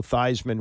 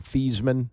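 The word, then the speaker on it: Theismann: That's when they started to call him Thesman, which is, you know, Joe Thyman's real name. But Roger Valdisteri, the sports evation director at Notre Dame, said change it to Thyisman because it rhymes with Heisman.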